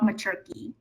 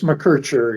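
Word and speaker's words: McKercher: So welcome Professor Bob Machki. Thank you. What is the right pronunciation? Bob McCarter. No, it's Mercher.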